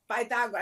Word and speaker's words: Pythagoras: Pythagoras, in the Greek, the way you pronounce it, would be Pythagoras. I mean, it depends on the accent.